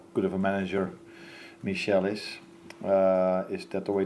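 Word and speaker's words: Míchel: With this budget, probably means how good of a manager Michel is. Is that the way to pronounce it?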